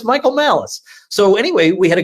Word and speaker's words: Malice: And I actually said, now let me just make sure I got this is not like an Italian last name. It's not like pronounced Molice or something, right? He said, no, it's Michael Malice.